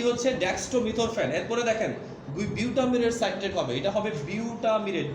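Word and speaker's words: butamirate: হ্যাঁ, একটা হচ্ছে ডেক্সট্রোমিথরফ্যান, আরেকটা কি বিউটামিরেট সাইট্রেট, BUTAMIRAT বানানটা। BUTAMIRAT, না না, বিউটামিরেট, বিউটামিরেট সাইট্রেট।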